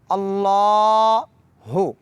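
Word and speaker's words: الله: सबसे पहला लफ्ज है अल्लाहु इसको थोड़ा लंबा करेंगे अल्लाह हु और हा को भारी पढ़ेंगे उसके बाद है अकबर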